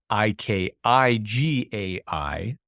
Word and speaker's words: Ikigai: I think of Ikigai, if you're familiar with Ikigai, Ikigai, pronounced Ikigai, Japanese origin.